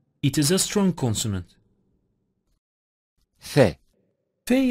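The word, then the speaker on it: ف: is a strong consonant phae-phae is pronounced when the edges of upper teeth touched the wet portion of lower lip it is a weak consonant but cuff is articulated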